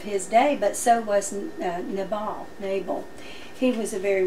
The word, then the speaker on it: Nabal: actually in the Bible it's the accent is on nay nabal so I'll try to